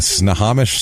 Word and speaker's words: Snohomish: in snow Snohomish County I'm sure I pronounced that wrong you nailed it Snohomish snow homish I think it's sish snow homish it could be snah Hamish it could be snow Hamish it could be snah homish I have no [